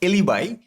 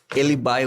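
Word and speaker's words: alibi: হচ্ছে মূলত প্লি অফ এলিবাই বলা হয় এটাকে বা অনেকে প্লে অফ এলিবি উচ্চারণ করে বাট আমি আমি নিজে হচ্ছে প্লি অফ এলিবাই উচ্চারণ করি আচ্ছা বাট আপনার এটা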